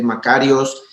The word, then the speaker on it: Makarios: que se llama Macarios, que se escribe Macarios, se escribe M-A-K-A-R-I-O-S, con K, Macarios.